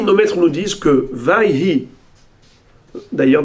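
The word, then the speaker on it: ויהי: Vayhi, nos maîtres nous disent que Vayhi, d'ailleurs dans la prononciation séfarade authentique, le Vav c'est Waw. Wayhi, Wai.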